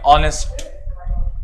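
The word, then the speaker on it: honest: Start हो रहे हैं, लेकिन अगर इसको आप प्रोनाउंस करें तो यहाँ पे एच जो है वो साइलेंट कंसीडर किया जाता है। तो हम लोग क्या करते हैं? ऑनेस्ट, ऑनेस्ट, ऑनेस्ट।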